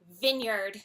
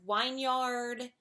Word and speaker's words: vineyard: gonna say the word Vineyard this one I hear wrong all the time Vineyard Vineyard I've heard wine yard all kinds of manifestations of this but folks its vineyard another one that I